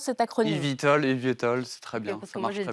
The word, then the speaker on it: eVTOL: la question, on dit eVTOL, eVTOL, comment on prononce cet acronyme? eVTOL, c'est très bien. Parce ça que moi marche j'ai très dit bien. IFTOL tout à l'heure.